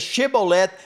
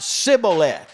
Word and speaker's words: shibboleth: word and the word when they tried to say it came out instead of shibboleth it came out sibilant well for most of